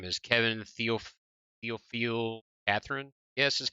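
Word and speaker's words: Kevin Théophile-Catherine: Moving on, we have, and this guy's name is Kevin Theophile Catherine.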